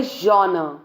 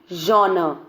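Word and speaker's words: genre: miss pronounce करते हैं कई लोग इसे बोलते हैं जनरे सम पीपल से different different pronunciation I don't know तो जब मैंने वो सब सुना प्रोनंसिएशन मैंने सबसे पहले उसको ऑनलाइन डिक्शनरी में डाला और फिर अ सीखा कि वो कैसे प्रोनाउंस होता है सो इट्स जनर ऐसे ही ज इन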